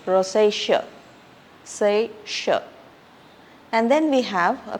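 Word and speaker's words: rosacea: have a skin condition Rosa it's not rosaia it is Rosa say and then we have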